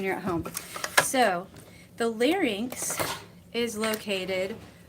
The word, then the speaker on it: larynx: So the larynx, which is pronounced larynx.